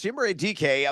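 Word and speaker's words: Chimere Dike: No, I had to look up the pronunciation a couple of weeks ago as well. But it's Chimere DK of the Tennessee Titans, more or less the long bomb specialist with Calvin Ridley out of action.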